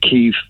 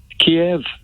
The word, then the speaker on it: Kyiv: The Ukrainians call it Kyiv. Yeah. The West, we in the West and the United Kingdom and America call it Kiev.